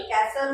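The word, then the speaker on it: castle: एस टी एल कॅसल कॅसल उच्चार होतो याच्यामध्ये टीटी चा उच्चार होत नाही टी हे सायलेंट वर्ड्स आहे कॅसल म्हणजे किल्ला त्यानंतर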